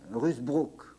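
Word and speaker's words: Ruusbroec: Ça s'écrit drôlement, ça se prononce Rusbrook.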